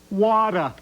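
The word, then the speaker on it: Watta: And get this, they spell it W-A-T-T-A, Wada. It's watermelon ice cream with chocolate chips that look like seeds wrapped up in lemon lime sherbet.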